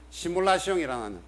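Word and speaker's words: simulation: 이런 게 이제 소위 시뮬라시옹이라는 이 우리나라에서 처음으로 도입된 상황인데요. 이 시뮬라시옹이라는 게 사실은 영어로 따지면 시뮬레이션입니다. 이게 불어 발음이고 이 시뮬레이션의 명사형이 시뮬라크러,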